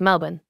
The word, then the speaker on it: Melbourne: It's pronounced Budapest. Well, that's how, I mean, when I say Melbourne. We say Melbourne correctly. Right. It's Melbourne.